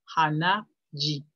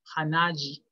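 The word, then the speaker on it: 鼻血: forma una palabra compuesta, estas chi y zu se hacen sonoras, ji, zu, y se escriben ji, zu, respectivamente. Por ejemplo, en hanaji, que significa hemorragia nasal, hanaji, hanaji.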